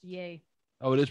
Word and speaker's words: Ye: says it's YE, and then it says to be pronounced YAY.